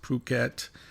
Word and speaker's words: Phuket: i'm coming to you from phuket thailand not it it's spelled as if it would be it but it's pronounced phuket interesting interesting time to be in thailand it's